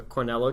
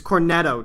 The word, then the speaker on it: Cornetto: you'll see throughout the cornello trilogy actually that let me look that up to make sure I'm pronouncing that correctly cornello or corn its Cornetto trilogy or net oh wow